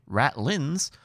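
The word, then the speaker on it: ratlines: quite a rascal yeah rat lines pronounced apparently rat lins are the uh the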